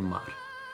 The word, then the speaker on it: mar: In the second and fourth words, bailar and mar, at the end of the word you have the letter R, which we pronounce as R, which is the sound of the tongue flicking the roof of the mouth.